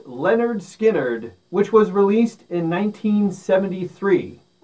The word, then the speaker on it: Lynyrd Skynyrd: their very first album pronounced leonard skynyrd which was released in 1973.